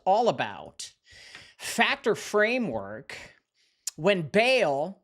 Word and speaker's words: Baal: Today is February 22, the 22nd of 2026, and tonight's episode is all about factor framework when Bail or pronounced also Bahal becomes the accusation.